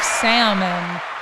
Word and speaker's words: salmon: It's also, according to Biff, a cut of salmon. Yeah, it is. It's a tranche is a cut of salmon, and that's what we're talking about here. Salmon. Words with silent letters.